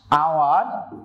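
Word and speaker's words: hour: এইটা কিন্তু একটা কনসোনেন্ট কিন্তু এইচ এর উচ্চারণ কি হ এর মত হয়েছে না হ এর মত হয়নি তাহলে এইচ এর উচ্চারণ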